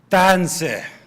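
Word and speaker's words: Tânisi: make sure you know how to really pronounce the T in Tanse. That it's not sharp. You drag it. So I want everybody to say Tanse.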